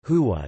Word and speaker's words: Hu: The sound hu derives from the last letter of the word Allah, which is read as Allahu when in the middle of a sentence.